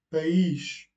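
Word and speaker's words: país: Pays, on accentue le i.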